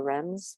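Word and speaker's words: Reims: to halls um and otherwise known as rims or rems but because i've been like you know like battered into pronouncing it right um the caves are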